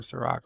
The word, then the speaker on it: Cirroc: yes richie poole i did say i prefer sir rock lofton and the fed docks is berta pray